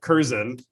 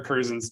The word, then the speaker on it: Curzon: I text Mark Curzon, who is Claire Curzon's dad, last week, asking which syllable of their name the emphasis should be on, because I've always said Curzon or Curzon, and Rowdy says Curzan at the end.